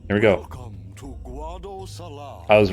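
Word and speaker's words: Guadosalam: I thought it was Guad Salam. We have been expecting you, Lady Yuna. Here we go. Welcome to Guad Salam.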